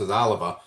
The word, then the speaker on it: Oliva: So, when I saw this a I want to call him Aliva, but I think they pronounce Oliva.